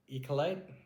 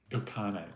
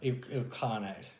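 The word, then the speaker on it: Ilkhanate: Entering Persia, they navigated a volatile region under the Mongol I can't even pronounce it. Ekolate. Ilcarnate. Ilcarnate.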